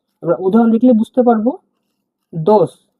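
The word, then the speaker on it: дос: ডি এর মত উচ্চারণ হয় ডি এর মত উচ্চারণ হওয়াকে এটা আমরা দ বলছি দ উদাহরণ দেখলে বুঝতে পারব দোস দোস মানে বন্ধু দোস মানে বন্ধু দেখুন ভেঙ্গে দিচ্ছি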